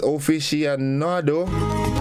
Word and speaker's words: aficionado: It is aficionado. Aficionado. Let me spell it for you, right?